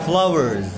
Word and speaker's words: flowers: Itu S-nya itu dibaca Z.